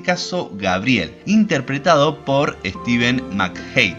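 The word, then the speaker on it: McHattie: villanos en este caso gabriel interpretado por steven mac hate y pónganle en que se pronuncia así un jefe mafioso que infecta las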